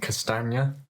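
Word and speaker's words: Castagne: get the nice one to pronounce it castanya very good yeah ten out of ten and uh wesley for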